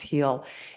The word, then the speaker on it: Geel: It's called Heel. It's spelled Geel, but it's pronounced Heel.